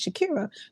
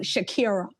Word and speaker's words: Shakira: How it was meant to be pronounced is Shakira. Growing up in public schools, many, public schools in the United States, it went from Shakira, kind of like Jamaican-ish, to Shakira, which is all right, cool at this point.